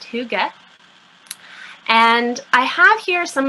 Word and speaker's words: hygge: I've heard probably every possible option you could think of, but it is pronounced hygge.